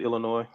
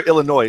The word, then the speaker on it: Illinois: Is there any other major city in is it Illinois or Illinois? So I always say Illinois, but No, you do not pronounce the S.